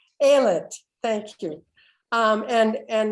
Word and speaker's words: Ayelet: excited about what you're saying i hope i'm pronouncing your name right is it um billy thank you sorry it's terrible when you pronounce names wrong aylat thank you um and and natalie because what